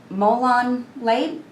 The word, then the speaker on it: molon labe: handle with a rustic head and he wanted molon labe sure did I pronounce that right it's perfect they never said